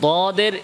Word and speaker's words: ض: তো দদের ইস্তিতালার সিফাতটা হচ্ছে এটা, উচ্চারণের সময় মাখরাজটা কি হবে?